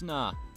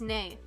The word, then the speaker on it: nay: There's nah. I checked. There's nah? There's nah? That's not how nay is pronounced. It's nay. It's nay.